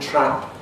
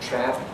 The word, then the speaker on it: trap: The vowel of trap is typically a bit more retracted, trap, not trap, in northern English, but again, that's pretty variable in different kinds of English.